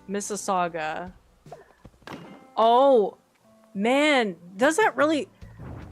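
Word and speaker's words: Mississauga: Anyways, this one, for those of you who guessed, is pronounced Missaga. Don't make me humiliate myself. This is not a challenge. This is going to be an Arkansas Arkansas's Kansas situation. That one's pronounced Missaga.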